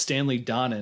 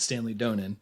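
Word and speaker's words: Stanley Donen: known I also learned in the commentary it's pronounced Stanley Donna not Stanley Donan oh so I've been saying that wrong for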